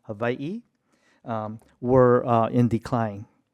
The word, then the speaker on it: Hawaii: the craft traditions of Hawaii of which pron properly pronounced havi um were uh in decline.